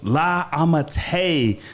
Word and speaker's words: La Ammitai: I say that right? Yeah, you said it right. Thank you for having me. La Ammitai.